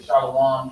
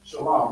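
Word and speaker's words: שלום: other Israelite groups saying they say shalawam shalawam when they read it in the Bible they read it as this right but even this is pronounced Shalom I'm going show you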